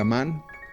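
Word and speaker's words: Ammán: Amón, que es como ahora se pronuncia Amán, por lo tanto es la capital de Jordania.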